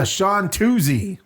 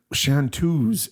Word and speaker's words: chanteuse: Chanteuse is a woman singer. Well, but it has an E on the end, so he says Chantuzy.